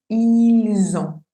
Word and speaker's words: ils ont: La liaison se hace cuando la segunda palabra empieza con vocal o con H muda. Entonces aquí empieza con O, con vocal. Por eso tendría que decir ils ont.